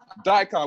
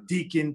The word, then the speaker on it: Daikon: before we started streaming no one really knew how to pronounce the name so you know people were saying uh deacon people were saying dick on people were saying all types of wrongness and then when tyler